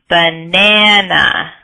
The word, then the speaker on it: banana: So for example, the word banana. Banana. Good. And so the second syllable in that word is stressed, and we stress the A sound, banana.